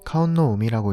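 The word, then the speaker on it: 霞雲の海: 일본어로는 카온노우미라고 읽습니다.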